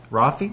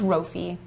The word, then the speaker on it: Rafi: Rafi? Rafi, but Yeah. it's Rofi. Yeah. Oh, I just totally nod is. and smile. Rhymes with? Coffee.